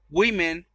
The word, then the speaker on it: women: con a significa mujer y women bueno así se pronuncia women es más de una